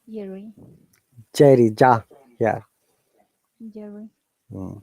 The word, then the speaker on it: Jerry: Say Jerry. Jerry, ja, yeah. Jerry. Mm. Jerry. Yes, Okay. Jerry, rolling R, Jerry, Jerry. Jerry. You see double R, Jerry. we have to pronounce only one R, okay?